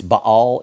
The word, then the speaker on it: Baal: to say Baal okay it's Bal is how it's pronounced but I'm a one syllable guy I'm from the south here we say baale so when you hear me saying baale it's Baal and eth Bale King